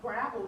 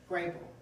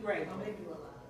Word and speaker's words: Grable: And Betty Gravel, did y'all know that Marilyn Monroe was her best friend? Grable. Saying it wrong. They're gonna keep correcting you, Brandy, until you get that right. Betty Grable.